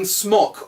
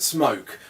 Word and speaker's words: Smok: Yeah, and we just went on the website the other day and found they're pronouncing it Smoke. Put a fucking E on the end.